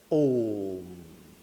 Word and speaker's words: ओम: लोग जैसे मुंह से अगर उच्चारण करेंगे ओम ओम ओम ओम ऐसे नहीं होता है लंबा सा हो जाता है ओम या ओम जो किसी